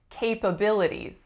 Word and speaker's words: capabilities: What is the winning syllable in this word, guys? Number 3.